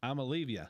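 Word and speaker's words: Iamaleava: A said, if you if you pronounce it phonetically, it's I'm Olivia.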